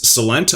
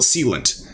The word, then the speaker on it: Celent: is an absolute must-see now i pronounce this celent others call it sealant this is a leading